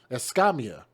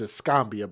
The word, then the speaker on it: Escamilla: pronounce it very well because visually it kind of looks like it's escombia but that's not correct but his fatality report